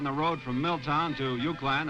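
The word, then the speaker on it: Uwchlan: The first school on the road from Milltown to Euclan, and that's spelled U-W-C-H-L-A-N, pronounced Euclan.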